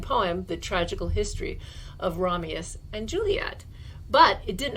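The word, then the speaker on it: Romeus: ramius and juliet and i'm saying ramius it's not a mistake i often make pronunciation mistakes i'm very guilty but this is not one of them because shakespeare while a genius was not able to write romeo and juliet when he was only one year old yes because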